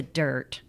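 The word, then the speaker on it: Dyrt: So, if you guys aren't familiar with the dirt, let's start right there. First of all, it's spelled D Y R T.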